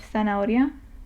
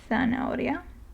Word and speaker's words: zanahoria: is th, which again is pronounced very similarly to one of the pronunciations of C. Okay, so it's like the TH in thing, for example. And again, I'll use the example of zanahoria, which I have said before is carrot, zanahoria.